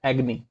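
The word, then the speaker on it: agony: एग्नी, एग्नी, इसको अगोनी काफी लोग प्रोनाउंशिएट करते हैं जो कि गलत है, एग्नी।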